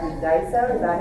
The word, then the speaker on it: Daiso: Daiso, is that how you say it?